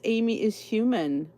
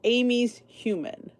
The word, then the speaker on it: Amy's Human: Make sure you are subscribed to Miss Amy is Human. Amy's a human. I keep saying Amy is human. It's Amy's Human. I always say it wrong.